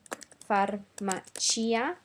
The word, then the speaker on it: farmacia: There are a couple of words that are an exception, such as farmacia. In this case, we want to pronounce the I at the end.